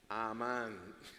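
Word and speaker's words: אמן: La tercera letra, esa es la nun. Y como no tiene nada, ningún puntico extra consonante y se pronuncia como una nun. Ahora yo les he dado ya las vocales de esas tres letras. ¿Saben cómo se pronuncia eso? Pónmela ahí, por favor. Amán.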